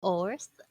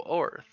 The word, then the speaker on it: Orth: Or Earth? Is that how you pronounce it? Oh, Orth.